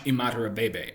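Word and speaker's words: Imatorbhebhe: My next favorite pick was Josh Imadarabebe, and yes, I'm pronouncing that correctly.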